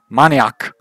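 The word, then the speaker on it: maniak: is Dutch for maniac Oh Mon yok which is Dutch for maniac but pronounced slightly differently oh did I forget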